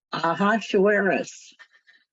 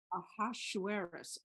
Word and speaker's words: Ahasuerus: Deborah, can you pronounce that for me? Ahasuerus. Ahasuerus.